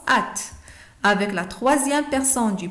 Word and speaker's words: âtes: Avec la deuxième personne du pluriel, on met A circonflexe, TES, et ça se prononce at.